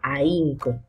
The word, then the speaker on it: ahínco: manteniendo, y en esta, por su condición de ser una sílaba muda o no sonora. Por ejemplo, ahínco, búho y zanahoria, ¿ok? Ahínco. Imagínate que esta H no estuviera, por tanto la I,